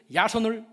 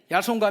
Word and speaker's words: 야손: 야손은 헬라식 그 발음인데 여호수아의 이름이에요. 그 야손의 집에 딱 급습해서 보니까 바울 사도가 안 보이는 거예요. 그래서 그 대신 야손을 끌어다가, 야손과 그 집에